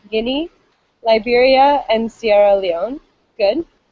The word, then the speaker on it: Guinea: long eye so good so guinea so we pronounce the ea like an i almost guinea liberia and sierra leone